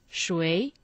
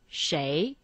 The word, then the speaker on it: 谁: 谁, the second tone. 谁。But I also heard some Chinese people say 谁。 Yes, in oral Chinese, people prefer to say 谁, which seems to be easier to pronounce than 谁。